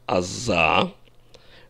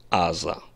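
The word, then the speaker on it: עזה: там разные неприятные вещи в высоком стиле нормативном иврите произносится а за в обычной речи говорят а за то есть ударение на первом слоге я объясню это не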